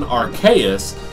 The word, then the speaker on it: Arceus: I've always gotten Arceus because Arcane Deus, magic god.